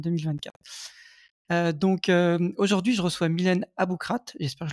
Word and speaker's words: Aboukrat: Aujourd'hui, je reçois Mylène Aboukrat, j'espère que je le prononce bien, ou Aboukra? C'est ça. Aboukrat? Non, non, Boucrate, Ouais, ouais.